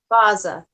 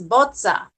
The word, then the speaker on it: Bozza: It doesn't look like Baza. It looks like Boza. I know, but it's like, okay, think about it like this. It's like pizza. It's bozza. But if I can say it like that, Bozza.